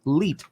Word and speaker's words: leet: It is the Graham Stephan Bankroll coffee brand, labeled 1337, which is pronounced Leet coffee.